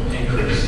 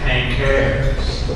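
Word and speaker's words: Pinckaers: I first pronounced the word Pincair's. A nun said, "No, Father, it's Pincair's."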